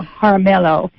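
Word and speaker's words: Jaramillo: His name is um Oh gosh, am I going to pronounce his last name? It's Arcadio. It's Arcadio. Uh Haramelo.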